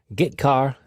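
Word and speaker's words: getchar: character io functions are get car and put car that's how I pronounce them get car fetches a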